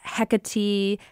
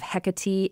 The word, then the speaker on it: Hecate: Brian writes, "The standard ancient Greek pronunciation of Hecate is Hecate or Hecate. The first vowel is aspirated, giving it a kind of H sound. Stress is on the second to last syllable.